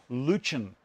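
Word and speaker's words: Lutyens: the lutean bench now i've been told it's pronounced luchan i don't know why but you know if you agree that's great if you if you like me i like the sound of lutein it sounds a little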